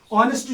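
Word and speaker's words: honest: है इस सेंटेंस में ऑनेस्ट जो है ये एज से स्टार्ट होता है और एज जो है ये कंसोनेंट है लेकिन यहां पे एज को साइलेंट किया जाता है तो इसकी साउंड जो है वो ओ निकलती है यानी वावेल निकलती है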